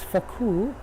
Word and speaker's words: Foucault: Let's say you wanted to clear, what is it, Foucault or something? You need to be careful with that pronunciation. We're in France, Foucault.